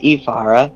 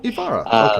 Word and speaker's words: Ivara: It's pronounced Ivara. Ivara. Okay. Eve is the more emphasis part.